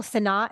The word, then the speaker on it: Sennott: Is it Rachel Sennott?